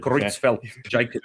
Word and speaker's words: Creutzfeldt-Jakob: So, you pronounce it better than me. Creutzfeldt-Jakob disease.